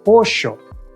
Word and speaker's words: pollo: understanding when someone says pollo. But in Argentina, that double L sound sounds like a shh. So a server telling you the special of the day at the restaurant is gonna say pollo.